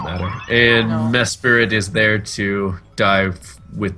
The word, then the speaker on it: Mesprit: No, it's pronounced Mesprit.